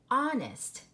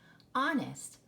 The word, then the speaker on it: honest: we know of so let's try it with the H silent honest you just hear the Oh making it short o sound and the H is silent honest oh yeah you know